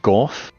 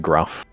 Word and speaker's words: Gorf: Is it Gorf, how it's spelt, or is it Gruff? Gorth, yeah. Gorf. Oh, okay. Gorf. We're going with Gorf.